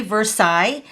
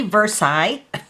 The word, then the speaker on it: Versailles: is the brand new stamp set called very Versailles and when I looked up this word right here on the Webster's dictionary online that's how you pronounce that word so very Versailles it's actually a suburb of Paris and I